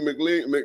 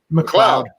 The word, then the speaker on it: McLeod: The Mick, you know what I'm saying? The Mick is dominant, and then the L. Come on, man. All right, so McLeod, right, out there doing his stuff.